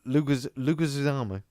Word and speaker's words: Leguizamo: No. Leguizamo. Just Can you Google his name?